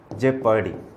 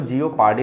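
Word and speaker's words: jeopardy: जैसे एक वर्ड है हमारे सामने जेपर्डी, इसको जियोपार्डी नहीं पढ़ते, दैट इज जेपर्डी।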